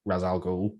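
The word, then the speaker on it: Ra's al Ghul: then killed the real raz al ghul or race depending how you want to pronounce it um and yet it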